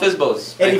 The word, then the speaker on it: FSBO: by owners yep uh fsbo they spell it f i z z Bo o o well this actually this